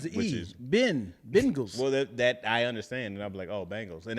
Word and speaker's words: Bengals: and more bingos but I would hear Bangles right like oh it's the Bengals but I do like well that's the thing from your region y'all say bingo bingos yeah right which is